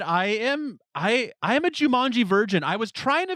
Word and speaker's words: Jumanji: Oh, I was gonna say I'll tell you why you didn't see Jumanji, and it rhymes with vagina.